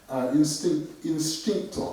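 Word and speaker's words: インスティンクト: So as I just said, what's interesting here is that it's written homo, but it's pronounced instincto.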